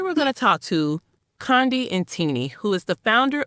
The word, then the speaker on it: Qondi: Okay, my name is Qondi Ntini. The name is South African. That's why it sounds so exotic. And it's a cute click, so it's a little hard to say.